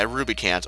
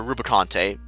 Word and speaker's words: Rubicante: There, his parents, they were actually turned to monsters by Rubicant or Rubicante, depending on your pronunciation there.